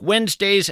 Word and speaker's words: Wednesday: If you're in fact scribbling this down, Wednesday is kind of tough to spell. It's not like it sounds. You want to spell it W-E-N-Z, but that of course would be a mistake.